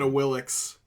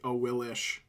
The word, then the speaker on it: Awilix: Like, I'm an Awilix sayer, even though it's technically Awilish.